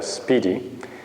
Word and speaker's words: SPDY: another protocol known as spdy and you're supposed to pronounce that a speedy it has been developed